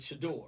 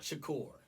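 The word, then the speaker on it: Shedeur: say is um and I think I pronounce coach Prime's son name wrong shador right shador shador not Shakur I'm thinking of Tupac Tupac not Tupac Shakur but it's shador and uh so I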